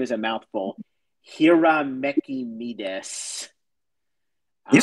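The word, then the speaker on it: Hiramekimedes: His name is, and I apologize for people who know that this name is a mouthful, Hiramekimides.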